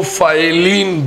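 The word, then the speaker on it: ptyalin: Salivary amylase जो है इसको फाइलिन बी कहा जाता है. टी साइलेंट है.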